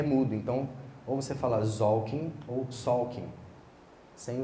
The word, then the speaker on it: Tzolk'in: Todo mundo chama de Tzolk'in, mas eu fui estudar a pronúncia correta, o T é mudo. Então, ou você fala Tzolk'in ou Tzolk'in, sem o T, tá?